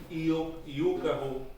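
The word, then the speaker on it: Yúcahu: Yokahu, you pronounce it like you like a you, Yuka. and the Y, Mauro, right? Mauro? see, and the Y goes as like una Yukahu, Bawan Morokoti.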